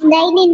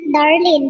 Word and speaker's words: Daylene: It's Daylene, not Darlene.